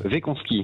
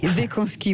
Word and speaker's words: Weckonski: Est-ce que je prononce bien votre nom? Oui, bonjour. Bonjour Cécile. Oui, presque. Wekanski. Wekanski, voilà.